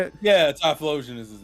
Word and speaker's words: Typhlosion: Yeah, Typhlosion is his name.